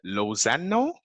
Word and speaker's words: Lozano: and correct me from wrong with your pronunciation of your last name uh uh lozano hey he said wrong him